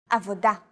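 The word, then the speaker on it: עבודה: Stress is usually on the last syllable of the word. Avoda, motzetz, mitlabesh.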